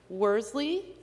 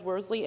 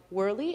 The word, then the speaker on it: Worsley: It is Worsley. It was pronounced as Worsley and not Worley, and I received a call to my office asking if this could be corrected on the record.